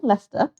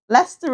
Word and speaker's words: Leicester: Had a friend from Leicester. How did you pronounce again? Leicester. Leicester. Leicester is Leicester. It does look like Leicester, but it is Leicester. It's many silent words. Many silent letters in Leicester.